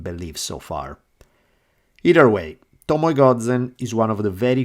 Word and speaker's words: Tomoe Gozen: of the entire gampe War her name was Tomo Goden and yes I use my pronounce correctly Tomo Goden was a woman the